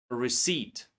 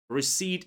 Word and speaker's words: receipt: pseudonym pseudocience pterodactyl Raspberry receipt. Receipt is very commonly mispronounced word. Many of my students say receipt, but it's receipt. Yeah. So P is silent here.